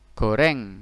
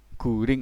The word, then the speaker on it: goreng: Goreng, nah ini G ketemu wawu jadilah gu. Ro ya mati, kemudian ng, guring. Guring ini kalau dibaca menjadi goreng ya. Jangan dibaca aku mangan sego guring, bukan, tapi aku mangan sego goreng.